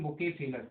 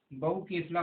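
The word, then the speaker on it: Bucephalus: शानदार, जिसका नाम था, क्या था इसका नाम, बुकेफेलस। क्या नाम था इसका, बुकेफेलस है ना। कहीं कहीं इसको क्या बोला गया है, बहु केफला बोला गया है, बहु केफला।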